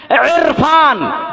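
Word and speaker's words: عرفان: তারপরে আপনি নাম রেখেছেন ইরফান, আইন রা ফা আলিফ নুন, ইরফান, ইরফান, ইরফান, ইরফান, আলিফ রা ফা আলিফ নুন, ইরফান। ভুল না?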